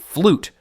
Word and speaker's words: fluyt: Enter the fluyt, pronounced flute, though it made about as much music as a drowning cat when pirates came calling.